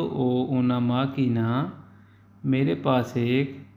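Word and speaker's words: ho: यहाँ आपके ज़हन में एक बात आएगी कि ओ के साथ एच क्यों लगाया हुआ है। एच यहाँ साइलेंट है, यहाँ हम एच को नहीं पढ़ेंगे, खाली ओ को पढ़ेंगे।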